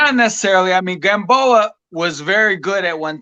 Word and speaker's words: Gamboa: I think it's Yorkis Gamboa. Am I saying it right? Yeah, Yeah. yeah. Gamboa.